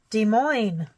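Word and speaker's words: Des Moines: I picked that up de Mo even though it's spelled Des Mo or Des Moes the s's are silent our city says welcome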